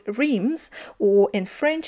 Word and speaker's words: Reims: and one of the biggest cities there called RS or in French it's pronounced as HS um it's uh famous for its glorious Cathedral